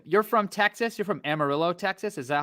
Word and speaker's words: Amarillo: Jr you're from you're from Texas you're from Amarillo Texas is that how you say it yeah I grew up in Amarillo and then I lived in Lubbock for a